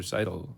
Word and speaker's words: Seidel: even correct me almost you do say it like Seidel like you sidle up to the bar for a drink I don't even notice